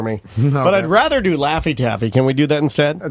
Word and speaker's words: Laffy Taffy: know how you spell Laffy Taffy la FF y TAS FY real it rhymes with taffy gotta spell it like